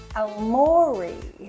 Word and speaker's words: Aomori: This day shows our day in Aomori. Yeah, that's a good pronunciation of it.